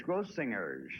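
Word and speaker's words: Grossinger's: grossingers yeah isn't this it's gross singers with a hard g crossing girls ghost singers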